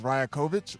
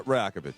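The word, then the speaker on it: Rajaković: butcher his last name but I believe it's Ryakovic. Am I saying it right? Uh Rakovich.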